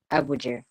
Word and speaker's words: Abuja: And how do you pronounce it? Is it Abuja or Abuja? Abuja.